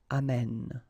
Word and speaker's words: amène: And then it will change, of course, the pronunciation, because you will have this sound open, amène, okay?